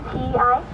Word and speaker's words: ti: the tea leaf, and it's not to be Tea leaf? confused with the tea that we drink. It's spelled T-I. TI.